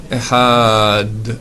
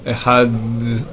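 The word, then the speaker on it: אֶחָד: Shema, Yisraël, Hashem Elokeinu, Hashem Echad, avec un Daled, et pas un Echad, comme j'entends des voix qui on dit comment on parle en hébreu. Echad, Shnaim, Shalosh, d'accord? Echad, non, c'est Echad. Alors, le Dalet, c'est une lettre qui est comme le TH anglais.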